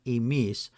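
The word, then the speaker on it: ἡμεῖς: Note that emis spelt with an eta is pronounced the same as emis spelt with an ypsilon.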